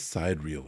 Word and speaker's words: sidereal: the inanimate vastness of sidereal space. I don't know what it says. Sidereal. It's like side and real is one word.